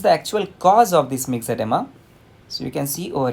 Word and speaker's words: myxoedema: Okay, the O is silent over here. You can pronounce it as a mixed edema. So mixed edema जो है वो किस में दिखाई देता है?